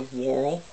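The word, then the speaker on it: whorl: onto the threading goes the Whirl w-h-o-r and in case I'm pronouncing it oddly for you with my Southern accent and then the bobbin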